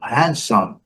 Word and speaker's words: handsome: Agora, essa aqui, com certeza, nenhum dicionário traz o D, não. É o handsome. A mulher é beautiful e o homem é handsome, homem bonito. É handsome. Dando, esquecendo de fechar a boca aqui.